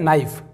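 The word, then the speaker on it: knife: रहता है जैसे यह क नाइफ नहीं यह है नाइफ एन के पहले के साइलेंट तो नाइफ का मतलब चाकू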